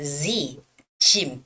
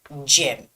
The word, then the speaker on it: gym: many cases in Korea a lot of Koreans would say but this sounds more like Z shim it's not gym it's gym you gotta pull out your lips Jim Jim okay Brian's gym okay